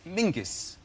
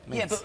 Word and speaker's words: Menzies: His name is Mingus. Mingus, yes. Scouse. Yeah, Mingus. it's pronounced It's It's spelled m e n z i s.